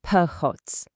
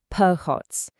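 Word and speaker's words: փողոց: In Armenian, it's phots, and it's pronounced phots.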